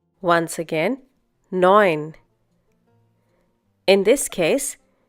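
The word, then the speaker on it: neun: Similarly in the next one zeben once again zeben a once again a nin once again nin in this case e u is pronounced like o i for example in oil in English once again hope you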